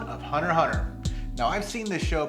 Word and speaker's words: Hunter x Hunter: I don't, truthfully, it's pronounced Hunter x Hunter even though it's got the X between them.